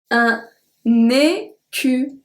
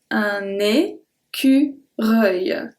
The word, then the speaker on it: écureuil: Numéro 10, and I got a request about this one because it's a difficult one to pronounce. Un écureuil. Reuil. Un écureuil.